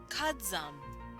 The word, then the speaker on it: kazama: It would be kadzam, even though it is technically written out as kazama.